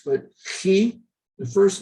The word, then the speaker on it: Chi: But this is where you have to think not X, but Chi, the first letter in the name or the title for Jesus Christ. Christos is a Chi. Pronounced like the Scottish word loch, CH.